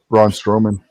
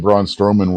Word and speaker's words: Braun Strowman: Braun Strowman.